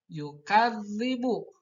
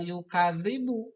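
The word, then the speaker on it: يُكَذِّبُ: patah pada kap maka harus dimasukkan langsung ke karena masjid yukadzdzibu jangan yukadzibu tapi Joe kan libur dimasukkan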